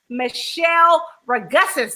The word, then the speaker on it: Michele Ragussis: This week, we are talking to Chef Michele Ragussis.